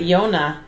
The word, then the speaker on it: Llona: Yes, you said it right, Llona. 2 L's make a Y in Spanish.